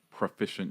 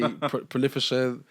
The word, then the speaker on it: proficient: You know, you're one of the first people that actually pronounce proficient correctly. Oh, really? Yeah, a lot of people say prolificient, like I've heard a few pronunciations of proficient.